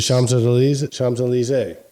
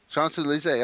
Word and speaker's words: Champs-Élysées: The Champs-Élysées. Champs-Élysées.